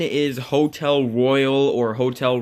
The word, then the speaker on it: Royal: Number 7 is Hotel Royal, or Hotel Royale. It's spelled Royal, but people have been calling it Royale since the beta.